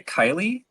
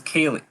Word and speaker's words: Kaylee: name wrong bailey severson how do you say kylie there it is kaylee it's like haley kaylee yeah uh kaylee